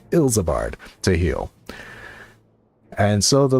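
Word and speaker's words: Ilsabard: It's pronounced Ilzabard to heal.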